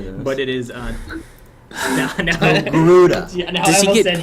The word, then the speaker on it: Togruta: It is very Which is, it is not Tortuga It's not. or Torguta It is not tortilla. or tortilla. It is not not tortilla.